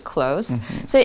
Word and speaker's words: close: 好，所以 close 就是当形容词的时候，老师刚刚有提到它的发音是 close。所以 if two people are very close, that means they know each other very well.